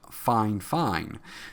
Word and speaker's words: FIFINE: got a product from Fine Fine. Yes, it's spelled Fi Fi NE, but I contacted the company and it is pronounced Fine Fine.